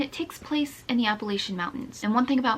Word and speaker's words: Appalachia: compound fracture and it takes place in the Appalachian Mountains and one thing about me I love